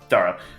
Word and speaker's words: Dara: God, Scythe, tell me how to pronounce the character's name again. Dara.